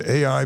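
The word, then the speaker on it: A.I.: as an AI mcnell it's capital A little I and it's pronounced just like the two letters George M Balch was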